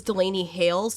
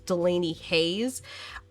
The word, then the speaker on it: Delany Hailes: in my head because her name is Delany hailes and I kept saying Delaney Hayes I kept seeing it